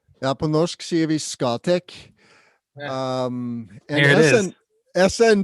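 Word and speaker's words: Scatec: Yeah, I say Scotech just because that's how the Norwegians pronounce it, but I don't know how we say it in English.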